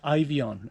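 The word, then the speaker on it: Eifion: ahead I'm from Wales my name is ivy on and it's spelt e I f io n have you and in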